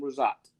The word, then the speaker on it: Rizzotte: team Barlo Ambassador rosat how are you doing today good Eric how are you I am great great and I pronounced your name last name correctly yes you did thank you for coming